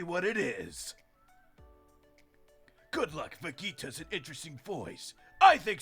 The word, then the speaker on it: Vegeta: Vegeta's name is actually pronounced the word you say vegetables. Vegetables, so Vegeta.